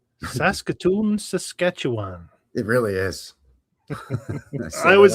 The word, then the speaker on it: Saskatchewan: It's actually Saskatchewan. You gotta free run through the first two syllables. Yeah, well, it's too many syllables, so you have to make two of them one, I believe.